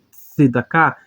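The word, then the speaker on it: צדקה: palavras sempre é pronunciado seda cá significa justiça aqui está a sua transliteração que temos o som de TS tá que é o TS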